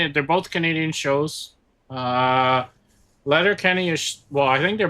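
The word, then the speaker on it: Letterkenny: You got to watch Letter Letter Kenny. It's spelled the way it sounds. Letter Kenny, L E T E R K E.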